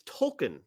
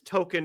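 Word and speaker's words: Tolkien: His name is Tolken because his parents were fans of JR Tolken. Okay. But everybody pronounced it as token for years and years.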